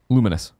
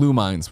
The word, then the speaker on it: Lumines: I mean, how'd you pronounce it? Luminous. Yeah, I thought so. Okay. Yeah. I used to call it Lumines when I was just playing on PSP and had no idea.